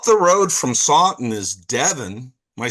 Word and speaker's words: Devon: Well, up the road from Sen is Devon.